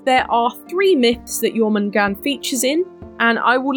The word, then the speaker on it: Jörmungandr: I will also say you'll probably notice that it's got an r on the end however this word you don't pronounce the R I did so in